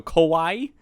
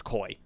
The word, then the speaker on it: koi: and the koi suit koi I can never say it right I don't know why it's just like something in my brains like koi suit but my brain always wants to go Kawaii like how it's spelled but just it's koi I don't care for